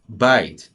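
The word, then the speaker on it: בית: The dagesh comes to emphasize that we're going to pronounce this word as bite. The Bet is going to be pronounced as the harder sound, the plosive sound, what we call in linguistics, and it's going to sound like bite.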